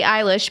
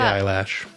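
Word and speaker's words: Billie Eilish: Phineas Phineas uh-huh and Billy eilish basically grew up the eyelash that's not how you say it uh a meal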